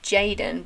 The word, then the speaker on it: jxdn: played this cover by this guy called Jaden, but his name is spelled like JXDN.